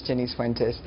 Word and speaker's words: Jennice Fuentes: of all good morning good morning yes you pronounced my name correctly it's Jenny fenes um good morning alvara I think that what